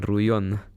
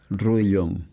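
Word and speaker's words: Rouillon: bueno y tu apellido materno Cuál es Eh ruon ruon sí que es francés que es francés que se escribe r o u i l l o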